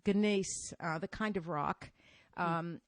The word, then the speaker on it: gneiss: I don't even know how to pronounce this. It's gneiss, the kind of rock, and it's not volcanic, but it's not limestone.